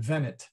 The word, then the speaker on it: venit: And by the way, that is a short E. I'm going to stick a short E in there. And I'm going to emphasize that because venit is he comes, venit is he came.